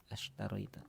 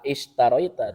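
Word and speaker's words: أشتريت: Ashtaroita. Ya, gimana terjemahnya? Apakah kamu membeli al-asya? Nah, betul ya diterjemahkannya apakah karena ada hamzah istifham masuk ke hamzah wasal jadi dibacanya tidak aishtaroita tapi langsung ashtaroita.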